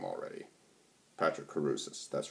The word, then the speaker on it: Crusius: patrick cruz sir god i forgot how to pronounce his name already patrick caruses that's right um they want to further a